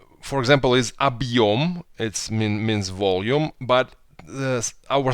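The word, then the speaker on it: объём: But hard sign, we just not read it. Объем.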